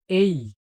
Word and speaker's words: A: আমরা ছোটবেলা থেকে পড়ে আসছি বা টিচারদের মুখে শুনে আসছি যে এটিকে বলা হয় এ, কিন্তু এটি উচ্চারণটা আমাদের শুদ্ধ উচ্চারণ হবে এই।